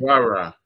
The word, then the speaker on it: Ra Ra: Okay, so Hakim, I was curious about that piece entitled, is it Ra Ra or Ray Ray? I don't know how to pronounce it. Ra Ra. Ra Ra. Yes.